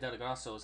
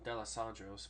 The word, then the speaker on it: D'Alessandro's: When I said Delegastos, I was saying it wrong. D'Alessandro's, but all right. I said it wrong once, and apparently that's how my brain told me to say it.